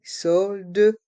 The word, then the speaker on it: soldes: Les soldes, une bonne affaire. Dans le mot solde, le S est muet.